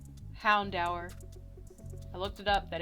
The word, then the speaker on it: Houndour: but he's also going to get a c houndour i looked it up that is how you